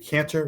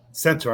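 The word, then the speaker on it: Centor: Is it Cantor? Is that how you pronounce his name? Centaur, I'm sorry.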